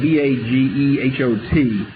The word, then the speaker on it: Bagehot: His name is was spelled, typical English thing, was spelled, had no relation to the pronunciation. It was spelled B-A-G-E-H-O-T. Pronounced Bagehot.